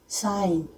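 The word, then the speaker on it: sign: जब वो एन के पहले आता है तब जी साइलेंट हो जाता है। जैसे अलाइन, डिजाइन, साइन, इन सब में एन के पहले आ रहा है, तो हम जैसे साइन बोला तो जी साइलेंट हो गया, साइन।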